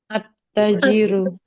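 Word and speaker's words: التاجر: Dengan kaidah huruf pertama ditambahkan tasydid. Maka dibacanya apa, Umahat? At-tajiru. At-tajiru.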